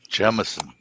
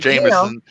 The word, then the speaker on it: Jemison: Just like not Jameson, not Jamerson, just straight Jemison. That's how I pronounce it. Doesn't everybody know that? Wrong. Come on, Jerry. Jim, so easy. It's Jim like a stone, Jim. Yes. Yeah. And then like Dating myself. Edison, like Thomas Edison.